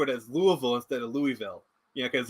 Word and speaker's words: Louisville: as Louisville instead of Louisville yeah because like it's Louisville oh no don't try to speak Southern we say it the French Way Louisville i i i